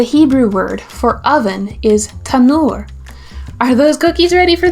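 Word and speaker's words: תנור: Tanur is spelled Ta, Nun, Vav, Resh. Let's say it together. Tanur. Let's review. Mincha, grain or food offering. Solet, fine flour. Shemen, oil. Afah, bake. Tanur, oven.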